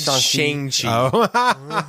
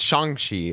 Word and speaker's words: Shang-Chi: Said it wrong again, Sam. What? He said Shang-Chi. It's Shang-Chi.